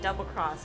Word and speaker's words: XX Cross: I think you're supposed to pronounce it Double Cross, but it's XX Cross.